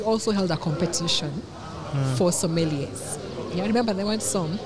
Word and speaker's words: sommelier: There's some media interviews that have been done when people say Somalia. If that makes you remember, it's fine. But the word is sommelier.